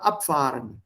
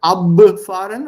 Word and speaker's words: abfahren: जैसे थोड़ी देर पहले क्या था, abfahren. Is it abfahren or या abfahren? Think. Abfahren. Abfahren. या P सुनाई देता है ना? So that B is pronounced as P, abfahren.